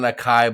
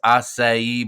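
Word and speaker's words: açaí: know we butchered it it's not an acai bowl it's acai bowl but it was the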